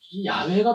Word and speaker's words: 야훼: 근데 이제 그 발음이 야훼가 더 정확한가 봐요. 야훼죠.